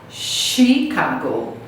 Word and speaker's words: Chicago: Apesar de começar com CH, a gente não fala chi, a gente vai falar Chicago.